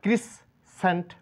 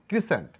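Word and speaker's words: crescent: এর ক্ষেত্রে আমরা জানবো এটাকে আমরা ক্রিস সেন্ট বলবো না ক্রিস সেন্ট বলবো না বলবো ক্রিসেন্ট এখানে সিলে লেটার কোন সাউন্ড নেই ইস সাইন্স না এটা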